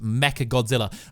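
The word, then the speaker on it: Mechagodzilla: gonna be mecha godzilla I'd be saying mega but apparently it's pronounced mecha godzilla very mecha godzilla is going to appear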